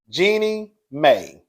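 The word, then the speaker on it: Jeannie Mai: Jeannie May.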